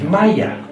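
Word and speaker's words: مية: It is not pronounced the same way in any other Arabic country. If you went to Saudi Arabia, they would say Ma or Meh. Only in Egypt is it pronounced Maya.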